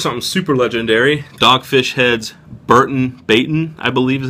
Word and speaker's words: Burton Baton: Dogfish Head's Burton Baton, I believe is how it's pronounced.